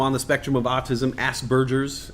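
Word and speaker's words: Asperger's: the spectrum of autism asks Burgers as it's being pronounced I used to call it Aspergers um I want to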